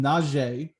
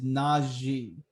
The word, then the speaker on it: Najee: Now, some people pronounce him Najee. It is not Najee. It is Najee.